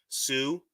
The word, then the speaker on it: TSU: Sue, which is spelled TSU. What it stands for is this side up.